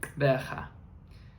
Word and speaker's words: Gqeberha: We arrived in Gqeberha. If you're wondering how to pronounce that name properly, which I'm trying my best to do, it involves a click sound from the Xhosa language.